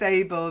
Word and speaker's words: Abel: Yeah, Abel. Yes, Abel, not Abe, Abel.